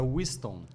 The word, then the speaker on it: Wissthon: Para começar, como é que é a pronúncia correta do teu isso, nome? porque... É Winston.